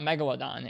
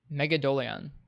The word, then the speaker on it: Megadolion: I looked at it and it's not just it's not Megalodon, it's Megadolion.